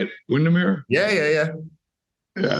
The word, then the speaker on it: Windermere: are now is that how you say it Windermere yeah yeah yeah yeah it's beautiful it's beautiful